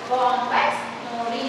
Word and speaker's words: Bombyx mori: Very, very important that remember, pronounce it properly. Bombyx mori.